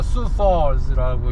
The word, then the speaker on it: Sioux Falls: 저희는 수퍼라는 도시로 갑니다 이 수포스가 이게 발음이 sioux folls 이래가지고 c64인 줄 알았더니 찾아보니까 수퍼즈라고 읽어야 된다네 굿바이 스타일즈 이 사람들이